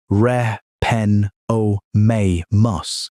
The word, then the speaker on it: Repenomamus: Then a mammal called Repenomamus, pronounced reh pen oh may mus, started showing up in the quarry.